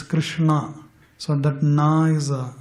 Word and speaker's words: Krishna: So it is K-R, there is an accent to R, N and A. So it's Krishna.